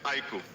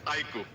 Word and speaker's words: iQOO: The pronunciation is IQOO. I emphasize again, it's IQOO.